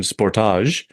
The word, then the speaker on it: Sportage: So Dave's got a new Kia, and I'll use the Canadian pronunciation, Sportage.